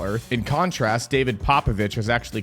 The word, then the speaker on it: Popovici: Popovici, not Papavici. Even though pronouncing it that way might make you feel cool and a little bit fancy. It's Popovici.